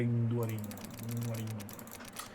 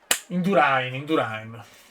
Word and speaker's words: Indurain: Però un top 5 non me l'aspettavo al Gran Premio Michele Induarin. Grande. Un ciclista scarso. Indurain. Mi piacciono le pronunce come indiane.